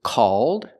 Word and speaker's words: called: pronunciations of these words the first word is called it's open and the second word